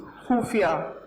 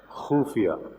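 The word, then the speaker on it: ख़ुफ़िया: खुफिया. खुफिया. खत्म. क्या बात है, खत्म. खाली. आपने खुफिया बोला, मैं तो खत्म हो ही गया.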